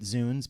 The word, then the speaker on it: Zounds: Zounds. I mean, it I have always pronounced it Zuns because it is a contraction of by Christ's wounds.